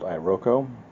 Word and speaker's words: iroko: go with a wood called ioko i o KO I think that's how it's pronounced which is a te